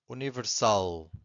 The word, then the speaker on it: universal: Universal. Where is the strongest syllable? I'm going to say it again. Universal. Universal. It's the last one.